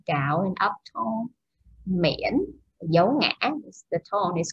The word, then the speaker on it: miễn: Miễn, dấu ngã, the tone is called dấu ngã. Okay, and the word is pronounced miễn, miễn.